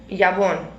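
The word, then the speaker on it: jabón: Jabon. Jabon. J is silent.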